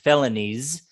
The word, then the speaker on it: felonies: this as a plural as well felonies with a z felonies try to use that